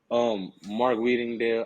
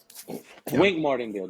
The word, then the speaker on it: Wink Martindale: Mark Weedingdale, I always say his name wrong.